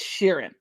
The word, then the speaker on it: Sheeran: being serene i think you're even saying it wrong ed sheeran sharon it's sheeran scissors hand mm-hmm okay